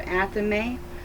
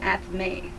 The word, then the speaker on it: athame: The one personal tool used by every witch, whether solitary or coven member, is the Athame, pronounced either Athame or Athame.